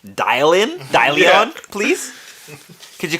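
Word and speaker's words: Dillion: is say it how you spell it please it's d-i-l-l-i-o-n can you call me dial-in dalion please could you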